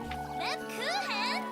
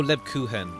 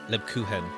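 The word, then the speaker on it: Lebkuchen: an ill-bred old fool leban oh Leb kuhan okay that's how you say it Leb kuhen either way P Hans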